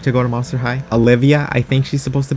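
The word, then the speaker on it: Alivia: Her name is Olivia Stein, but it's spelt like alive. Olivia Alive, because she is another Frankenstein daughter.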